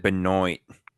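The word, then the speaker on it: Benoit: Triple H vers someone verse Chris Benois. Who's in that match? They pronounce it Benoy.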